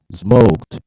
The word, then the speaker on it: smoked: Smoked, not smoked. Okay? A pronúncia. Nós, brasileiros, tentamos reforçar muito esse E do ED final.